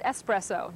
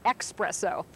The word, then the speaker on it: espresso: And by the way, it's pronounced espresso, not expresso.